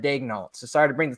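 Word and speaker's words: Daigneault: Like it's like the Thunder announcers on TV still pronounce Mark Dagnall instead of Dagnall.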